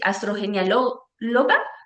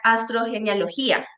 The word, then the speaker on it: astrogenealogía: Astrogenialga. Gia. Ah, ya. Okay. Astrogenialogía, correcto.